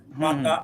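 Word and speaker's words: متاعا: হ্যাঁ, পরে আয়াত না মাতা আল্লাকুম আন আমিকুম। হ্যাঁ, উচ্চারণ সবাই ঠিক আছে, এখানে একটু টান কম হয়ে গেল নাসির ভাই। এই যে মাতা মাতা, এই তাতে একটু টান দেন।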